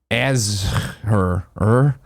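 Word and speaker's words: Azure: around the globe naina biologist says Ezzor is pronounced as as her like that that's not that's not phonetic azh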